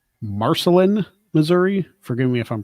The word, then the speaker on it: Marceline: In, I believe it's Marceline, Missouri. Forgive me if I'm pronouncing that wrong. The hometown of Walt Disney, Marceline, yes. Oh, Marceline.